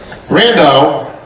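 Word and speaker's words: Brandão: as it would be Brando rhymes with Sandile a lot of people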